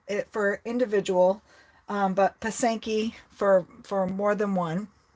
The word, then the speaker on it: pysanky: I wrote it and they're like pasanki yes that is correct it is pasanki um pasenka it for individual um but pasanki for for more than